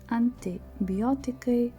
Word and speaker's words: antibiotikai: Therefore, I chose examples antibiotikai, multivitaminai. You are more likely to want to pronounce them anti, which would be a mistake, because in Lithuanian we read I as short E, or you simply can